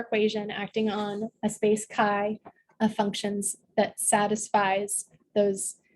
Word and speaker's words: chi: I believe I just saw online that it was supposed to be pronounced ki, but we pronounce it chi.